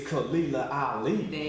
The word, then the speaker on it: Khalilah Ali: So please introduce her, because I don't want to mess up nobody's name, no pronunciations. Her name is Khalilah Ali.